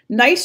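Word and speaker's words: gneiss: used to be quartz nice should look a little familiar - that's the it's actually pronounced nice G and EISs I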